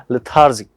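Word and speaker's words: lethargic: वापस बोलेंगे लेथार्जिक, क्या मीनिंग, सॉरी इसका प्रोनाउंसिएशन होगा लेथार्जिक।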